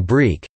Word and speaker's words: brik: Tunisian and Algerian brik. Brik, pronounced brik, is a Tunisian and Algerian derivative of the bourek consisting of thin malsoka pastry around a filling, commonly deep-fried.